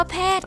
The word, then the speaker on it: แพทย์: ๆ ขา นะ คะ คำ ว่า แพทย์ ค่ะ ท. ทหาร เป็น ตัว สะกด ค่ะ ออก เสียง เป็น เด็ก ค่ะ คำ ว่า โกรธ ทอทง